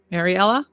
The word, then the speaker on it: Mariela: Wait, Mariela. Mariela, I wanted to say it right.